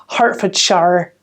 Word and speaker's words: Hertfordshire: yeah sorry i did it's hertfordshire it's because it's spelled h-e-r-t f o r d s h i r e so ford share is obviously fine although to me that's shire okay hertfordshire hertfordshire it's like out